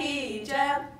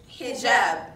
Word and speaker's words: hijab: Welcome to Hijab 101. Lesson number one, basic pronunciation. It's hijab, not hijab. Learn to work your tongue around it.